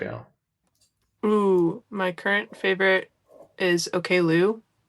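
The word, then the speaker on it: Oklou: My current favorite is Okloo, spelled like okay K l o u.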